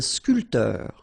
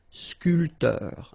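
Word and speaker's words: sculpteur: So uh barman uh sculter same thing here this here is not pronounced. So sculter sculter sportif.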